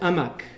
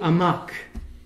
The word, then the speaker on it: amok: The Malays can't pronounce the H in Arabic. So they say for the stupid in Malay is, in Arabic it's ahmaq. The Malays said amak. So running amok is acting foolishly and stupidly.